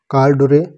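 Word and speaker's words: corduroy: Eid could not anchor in their कॉर्डरोय cheeks, कॉर्डरोय cheeks वो कह रहा है, कॉर्डरोय कॉर्डू रॉय, इसकी सही प्रोनाउंसिएशन आप देख लीजिएगा एक बार, यह है कॉर्डू रॉय, a strong gripped usually cotton cloth.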